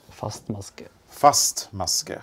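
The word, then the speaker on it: fastmaske: FM is the abbreviation and the way to pronounce this word is first muscare it's a firm stitch yes so a single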